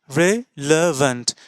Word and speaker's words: relevant: अब क्या हम इसी तरह से उच्चारण कर रहे हैं? हम क्या इसे टीन ऐसे कह रहे हैं? नहीं, इसको हम टेन ए. तो ये ई नहीं है, ये ए है. अब ये जो ए उच्चारण है टेन, इसको यहाँ पुट कर देते हैं. अब टी ई टे, आर ई री नहीं, रे. टे रे.